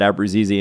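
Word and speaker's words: Abruzzese: conversation we had because he was the one who first said abrazizi and like the people like that's not how you say it and he's like but that's how he wants it set I talked to his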